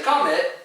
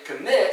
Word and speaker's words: commit: to pronounce words correctly you don't say come in you say commit see the emphasis is on the last syllable then once again you're